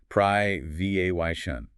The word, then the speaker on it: privation: US pronunciation. Pry V A Y shun.